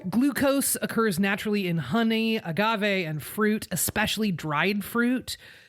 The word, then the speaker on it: agave: This is also where we get the idea that agave is better for you, quote unquote. It's pronounced agave, but that's okay.